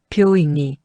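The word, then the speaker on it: 病院: 뷰잉니. 이따 호우가 이이데스까? 뷰잉은 병원. 한국어 병원이랑 발음 비슷.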